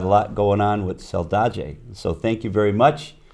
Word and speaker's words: Saldaje: Saldaje.